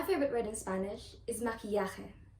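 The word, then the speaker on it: maquillaje: word in spanish is makiyake i like it because it includes some pronunciation rules of the spanish language such as ke ya and so it's a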